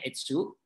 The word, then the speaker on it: Etsu: ini namanya tiket Exo ini bacanya Etsu kalian Asus itu ikan